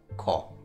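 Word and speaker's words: こ: We pronounce these syllables the same way, but we put a ka, a K in front.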